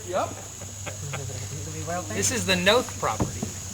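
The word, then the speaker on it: Knoth: This is the Noth property. How do you spell that? This is that's with a K, K-N-O-T-H.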